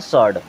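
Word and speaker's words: sword: मीस होता है उत्तर एस डब्लू ओ आर डी यहां पर डब्लू होता है साइलेंट इसे क्या पढ़ते हैं सर्ड क्या पढ़ते हैं सर्ड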